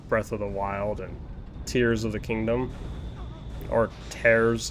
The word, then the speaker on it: Tears: interview with Anuma that it's pronounced tears. Like, you're tearing the fabric of time.